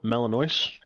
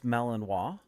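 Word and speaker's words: Malinois: they've bought two Bell Melano puppies from uh Germany. I I may be pronouncing it wrong, but I think it's Melanino. It is Melanino.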